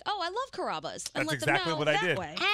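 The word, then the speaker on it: Carrabba's: it's the italian restaurant c-a-r-a-b-a how do you pronounce that they called it caravas and i'm like no no no it's carabas and they're like no it's not it's however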